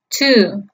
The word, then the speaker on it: two: Recordemos que la T en inglés se pronuncia T. Por último, luego de la U vemos dos puntos seguidos. El signo de los dos puntos seguidos va a indicar siempre que la vocal que la antecede se pronuncia alargada. Es como si se pronunciara dos veces esa misma vocal. En este caso se pronunciaría dos veces la U. Entonces, la pronunciación correcta del número 2 en inglés es two.